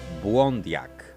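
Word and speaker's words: Obwandiyag: Jednak jego imię wymawialiśmy błędnie. Poprawna wymowa w języku Ojibwe to Błądiak.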